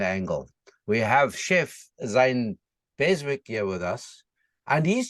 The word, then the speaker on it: Beswick: However, because they didn't spell his name properly, he decided to pronounce the W, and so then we became the Beswicks anyway.